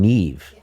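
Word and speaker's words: Niamh: We were really thinking of there's a the Irish name Neve and the only problem is that Neve the Irish spell it because they love to do this.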